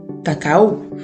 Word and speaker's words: cacao: Did you know that there was a difference between cacao and cocoa? I've always thought that cacao was basically the translation of cocoa in French, which is pronounced cacao.